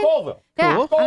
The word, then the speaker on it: Colville: We got 509 Kyle checking in from, I think I say it wrong all the time, Coyville, Washington? Colville.